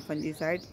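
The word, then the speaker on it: fungicide: फंगीसाइड जरूर डाल लीजिएगा मैं फंगीसाइड ही प्रोनाउंस करती हूं आप फंजी साइड करिए फंगी साइड करिए बात वही है तो इन सब चीजों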